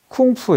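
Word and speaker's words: 功夫: 있지만 이 할 자가 이렇게 되게 쓰는데 중국식 발음이 쿵푸 에요 콤프 흥미롭게도 쿵푸를 또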